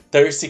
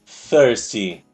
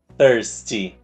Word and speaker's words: thirsty: faz ela makes me thirsty quer dizer sedento com sede você tem sede a gente pronuncia essa palavra thy colocando a língua no dente de cima e soprando thirsty thirsty thirsty se você quiser falar